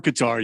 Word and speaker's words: Qatar: It's either Qatar or Qatar. Your choice. Both ways works.